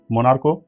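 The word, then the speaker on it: monarch: हो जाता है और सी एच का उच्चारण अगर च ना हो के क होता है तो उसको एंड में इ एस ना जोड़ के हम सिर्फ सिंगल एस जोड़ते हैं वो कौन से शब्द है जैसे मोनार्क मोनार्को तो इसका जो आर्टरी में जो सी एच है इसका उच्चारण च ना होके क हो रहा है तो हम इसको मोनार्क बोल रहे हैं इसलिए इसको एंड में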